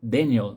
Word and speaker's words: Daniel: livro do Daniel Pink na verdade a pronúncia é Daniel né Daniel Mas vamos chamar al de Daniel mesmo quem tiver interesse